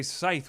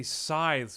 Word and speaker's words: scythe: with pleasure yes SES we can't even say Scythe we have to say sizethe we have to change the way that we pronounce it look more chest floor